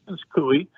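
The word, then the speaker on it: Coie: He worked at the uh the law the the Clinton campaign law firm Perkins. Is it Koi? How do you pronounce that? Perkins Koi. Kooi. Yeah. Perkins Kooi.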